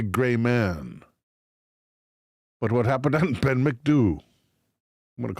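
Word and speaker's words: Ben Macdui: Ben MacDoo. Ben MacDoo. So it is do at the end.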